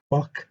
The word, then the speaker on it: Bach: نشون میده که Kim demonstrates یا shows how Bach's music این یوهان سباستیان باخه که معمولا در انگلیسی هم باخ یا باخ اون خیشو به سختی تلفظ میکنه.